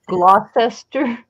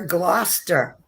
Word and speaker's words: Gloucester: spell it phonetically please you don't pronounce the three syllables oh there's a gloucester